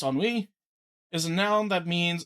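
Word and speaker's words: ennui: Uh, enwi uh, pronounced enwi is a noun that means a feeling of listless boredom and lack of excitement or purpose.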